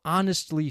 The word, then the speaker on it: honestly: Okay, did you hear the silent H there? Honestly, H-O-N-E-S-T-L-Y, honestly. Our, H-O-U-R, the H is silent.